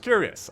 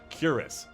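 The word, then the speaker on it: Cuirass: Coming up at number 2 in this top 10 countdown, we have the Curious of a Falling Star. And in case you're wondering, it is pronounced Curious.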